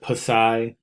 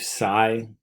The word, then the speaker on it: psi: greek symbol um psi he pronounced it passai i believe psy is the correct way of pronouncing it but however you want to is fine and this is the